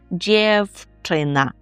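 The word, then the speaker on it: dziewczyna: Дівчина ніби просте слово, яке знають усі, навіть початківці, але при вимові пам'ятаємо, що звук в в нас оголошується і ми його вимовляємо як ф і кажемо дівчина.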